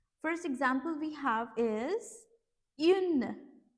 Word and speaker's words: une: But yeah, just to simplify it, you can just like the way you pronounce I in French, E, but you just need to pronounce it with the rounded lips.